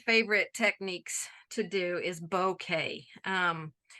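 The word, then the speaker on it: bokeh: So one of my favorite techniques to do is bouquet. It's pronounced like a bouquet of flowers, but it is a Japanese word.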